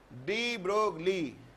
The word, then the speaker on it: de Broglie: De Broglie, pronunciated as de Broglie.